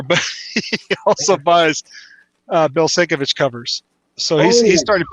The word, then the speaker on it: Sienkiewicz: Sienkiewicz. Sienkiewicz. Okay, Sienkiewicz. For 20 years, I was pronouncing Sienkiewicz. Sienkiewicz.